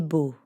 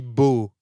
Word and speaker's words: beau: So I could say, Paul est beau. Ah, merci Estelle. Oui, je suis beau. Beau rhymes with chaud.